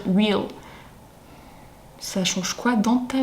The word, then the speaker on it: reel: J'ai vu un post sur Instagram qui passait de quelqu'un qui s'offusquait parce que tout le monde prononce réel et qu'il faut dire real.